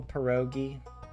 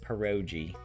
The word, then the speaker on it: pierogi: All right, so that you guys, is that how you spell pierogi? Did I spell it like P-R-O-G? But Granny pronounces it pierogi.